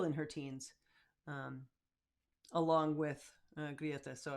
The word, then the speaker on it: Greta: So the first one, and we pronounce her name the way we've heard her pronounce it, Grieta Thunberg, right? So not Greta. She doesn't go by that. She goes by Grieta. That's why we sing now Grieta with all those three syllables.